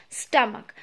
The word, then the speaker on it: stomach: shape of a bag that is stomach s-t-o-m-a-c-h stomach now again children i am once again repeating